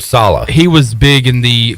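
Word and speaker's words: Saleh: twitter somebody said that to pronounce the last name just rhymes with holla holla robert salah he was big in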